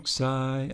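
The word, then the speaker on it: ψ: Psi has a PS double consonant sound, like hoops, like the end of hoops.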